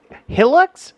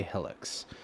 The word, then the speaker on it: Hilux: North America was so Hilux or hux it's pronounced either way kind of depending on which Market it was in some people say hux others say Helix uh I wonder if